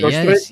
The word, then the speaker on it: George Strait: So I have listened very much to the king of Texas in George Strait. Is that how you say it? George Strait?